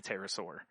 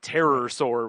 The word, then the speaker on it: pterosaur: the way it's spelled because it's pt like pterodactyl but terror sore would be that'd be